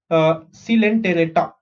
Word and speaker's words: Coelenterata: Coelenterata. Okay, Coelenterata. Again, I'm going to do this. If you want, you can say this word after me. Okay, Coelenterata.